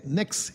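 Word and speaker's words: Pnyx: ये देखिए इसको कहते नेक्स हिल पी एन वाई एक्स नेक्स हिल पी साइलेंट है।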